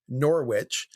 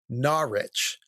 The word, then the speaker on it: Norwich: He also, you know, I was talking about one of the saints are from uh I said Norwich and he corrected me. It's actually Narich and frankly I I